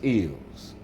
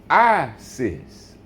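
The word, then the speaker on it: Isis: the word is ISS or some people say the wrong saying I sis see how the pronunciation play yeah see so all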